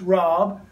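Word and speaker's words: רב: character the a and it actually spells Rob pronounced Rob which is short for rabbi and what would the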